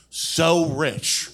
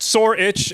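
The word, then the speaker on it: Sorich: you be than so rich it's pronounced sore itch and I do have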